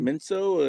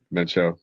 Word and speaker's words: Mencho: So cartel leader got smoked, and now it's El full on Minso, or is that how do you say it? Mencho.